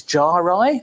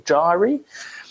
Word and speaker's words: gyri: part is called a gyrus, the plural is gyri or gyri, and the valley is the sulcus, or the plural is sulci, yeah, or sulci.